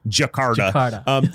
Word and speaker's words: Jakarta: and i you you taught me how to pronounce it and i already have it's jackhammer jakarta is that right yeah jakarta so is is that the largest cities the